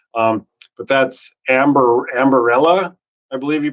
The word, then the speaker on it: Ambarella: But that's Ambarella, I believe you pronounce it, ticker symbol AMBA.